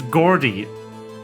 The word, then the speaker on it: gourd: gourd for the fruit it's Gordy like Gordon but cute order continue Mr